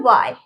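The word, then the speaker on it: why: Next हमारा वाई, वाई, इसमें भी W के बाद H है तो ये H हमारा साइलेंट रहेगा, ओके।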